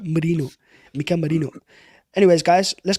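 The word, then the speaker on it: Merino: Moreno. Stop calling him that. Oh my god. Marino.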